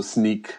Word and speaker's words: Snyk: a bit more detail yeah so sneak you know I get a lot of a lot of comments on how you pronounce it it's short for us so now you know so fundamentally what